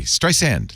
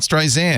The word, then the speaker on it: Streisand: Streisand, like sand, right? Not Streisand.